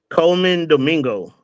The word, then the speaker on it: Colman Domingo: How do you pronounce his actor's name? Colman Domingo. Colman Domingo.